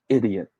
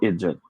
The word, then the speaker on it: idiot: So the correct word or correct pronunciation of this word is a smiley face. Okay? This is pronounced as idiot. Okay? Hindi po idiot.